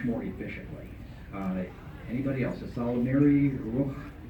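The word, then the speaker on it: Ysalamiri: How do you pronounce the Salmari, Jorah Sabath, and Luke with multiple U's? A Salamir, plural, a Salamiri.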